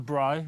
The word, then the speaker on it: braai: little bit of olive oil, just for the braai, as you say. Yeah, yeah. Nice. And, good pronunciation there.